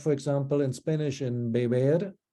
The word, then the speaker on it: beber: It's the same sound that you have, for example, in Spanish in beber, not the initial B, but the intervocalic B is pronounced more like halfway to a V.